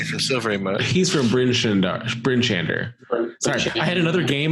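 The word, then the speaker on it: Bryn Shander: He's from Bryn-Shander. Sorry, I had another game where we were playing the Storm King's Thunder, and we mispronounced Bryn-Shadar, and it like stuck.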